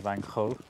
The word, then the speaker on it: van Gogh: by the way with van Gogh I think because he's is that she singing supposed to say like Vanko poor thang off or something like that like something completely unpronounceable for a British person but van Gogh I'll